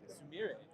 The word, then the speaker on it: Sumire: Sumire.